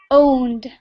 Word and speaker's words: owned: pronunciation um yes yes owned uh it's like like the letter like the letter o